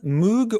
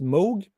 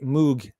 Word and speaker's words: Moog: interview uh it's pronounced Moog while I know a lot of you UK based guys say Moog but I think and I'm pretty sure the correct pronunciation is moog like in Rogue so that's that um